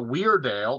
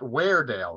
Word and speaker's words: Weardale: far so uh the the place name uh Weird Al not where Dale is that correct we